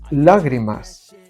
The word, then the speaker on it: lágrimas: sumaríamos una sílaba ardientes lágrimas lágrimas es una palabra esdrújula por lo tanto restaríamos